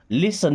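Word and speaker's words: listen: Okay, do ever लिसन टू मी, do ever कभी तो, लिसन देखिए लिस्टन नहीं पढ़ते, लिसन मी सुनो, टू मी मेरी बात, लिसन टू मी मेरी बात सुनो।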